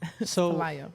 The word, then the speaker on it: Pelayo: I always Pelayo, yeah. Pelayo, that's I say Pelayo on Pelayo. I say the the Spanish pronunciation is Pelayo, but I think, you